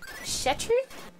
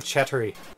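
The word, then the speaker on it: четыре: It's a Russian word. Yeah. And but you say you don't know what it is. I don't know what it is either. It's four. It's the word four. The word four. But in Russian. But there's a pronunciation that we don't have in English for it.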